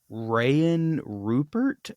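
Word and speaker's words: Rayan Rupert: going to go with um sorry uh right Ryan Rupert I think that's how you say his name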